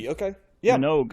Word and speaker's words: Minogue: Wikipedia pronunciation does have the G at the end, so I'm going to go with Minogue. Okay, Minogue.